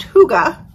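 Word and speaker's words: hygge: So Huga, pronounced Huga, is the quality of being warm and comfortable that gives a feeling of happiness.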